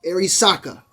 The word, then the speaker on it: Arisaka: and depends on that now I've said this thing wrong a couple of times and people have uh clowned your boy you feel me uh let me let me make sure I say it right because I every it's